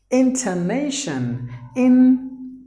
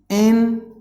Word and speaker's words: intonation: The last word is intonation. Intonation. There are 4 syllables in this word. Nay should be given more volume.